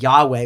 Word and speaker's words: Yahweh: And God says these letters, Yod, Hey, Vav, Hey, and which we say as Yahweh, we add vowels to pronounce it.